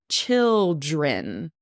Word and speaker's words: children: And don't forget that child, child, has that long I and chi, children. Has a short I sound and that DR, that kind of a little difficult, children, children.